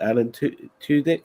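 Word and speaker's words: Alan Tudyk: not sure if you noticed was and uh Alan two dick is that how you say his name yeah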